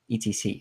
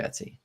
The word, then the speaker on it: etc: in Discord and asked how do people pronounce the Etsy folder. And it turns out a lot of them have actually said ETC as opposed to Etsy. That's wrong.